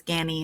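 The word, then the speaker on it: Ganni: of great contemporary designers gany it's not gnie it's gany in terms of pronunciation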